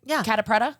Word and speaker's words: Catta-Preta: I met this is am I pronouncing your name right kpra yeah okay great I was like yeah